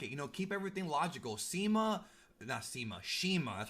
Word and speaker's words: CIMA: Shima, that's how you pronounce it, losing to Kenny Omega did not hurt him at all.